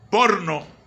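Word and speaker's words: porneia: la palabra fornicar jovi se escribe por neo por no se pronuncia porno y viene de inmoralidad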